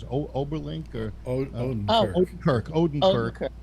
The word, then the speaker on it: Odenkirk: be a combination of Bob, how do you pronounce it? Oberlink or Odenkirk. Odenkirk, right.